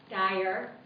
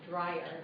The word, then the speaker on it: Dyer: Gosh, T has been, she had the pronunciation of his last name wrong when we did a book prior months ago, and we joked about it because she was calling him Dryer, like Dryer's ice cream.